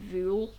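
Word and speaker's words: Vuhl: it if you want it's v-u-hl but you pronounce it vuel um i think and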